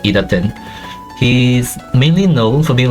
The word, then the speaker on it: idtn: Yes, that's how his name is pronounced, idtn.